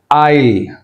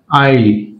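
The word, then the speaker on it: isle: ఐల్, right, yes ఇస్ సైలెంట్, ఐల్ అనాలి. ఇక్కడ కూడా ఐల్, right, yes ఇస్ సైలెంట్.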